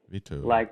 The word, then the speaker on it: Vito: Yeah, veto, Vito. like the veto right.